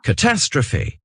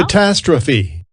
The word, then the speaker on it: catastrophe: Catastrophe. Donc là, si vous voyez, le mot s'écrit peut-être comme en français, mais il se prononce pas du tout comme le français.